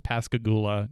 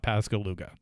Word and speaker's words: Pascagoula: town and I apologize the town's name is Pascagoula not Pascal luga and we are going